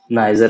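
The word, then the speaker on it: Niger: से लीबिया हो गया, एन आई से नाइजर हो गया, और नाइगर भी कोई कोई कहता है इसका प्रोनाउंसिएशन। तो आप जैसा आपको अच्छा लगे आप बोल सकते हैं।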